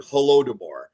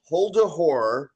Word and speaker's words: Holodomor: So Dave could never pronounce the word Holodomor, which literally translates to the hunger in Ukrainian. Right. And so Dave started calling it Holdahor.